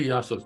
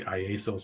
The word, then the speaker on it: Iasos: correctly which is amazing it didn't even say iasos or anything say Yos I figured now I